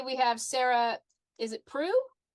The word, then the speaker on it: Preu: All right, Kansas Helen here, and today we have Sarah, is it Prue? Preu. Yep. Good. I've never heard it pronounced, so I wasn't sure.